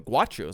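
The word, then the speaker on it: Gauchos: you see Santa Barbara the guos or the guachos I think is how you say it um they would be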